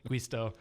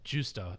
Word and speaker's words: Giusto: Not Gusto, Gusto, Guisto. So yeah, it's Giusto.